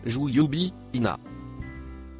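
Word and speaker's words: جيوبهن: Le mot écrit en rouge se prononce Jouyubi Ina.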